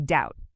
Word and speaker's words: doubt: The B in doubt is also silent. We don't say dowbat. We say doubt.